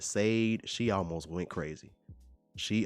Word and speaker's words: Sade: I used to say Sade. They're like, yo, man, Sade is good.